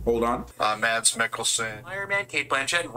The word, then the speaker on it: Mads Mikkelsen: the biggest elephant in the room with having matt mickelson or max mckelson i could never i gotta research how to actually really pronounce this guy's uh name hold on uh mads mickelson iron man kate blanchett and ragnarok as i